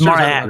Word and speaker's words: Maran: It's Maran, right? That's the Irish pronunciation of my name.